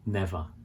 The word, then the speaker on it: never: seldom seldom never so here we don't say the r on the end that never it's just never never daily daily weekly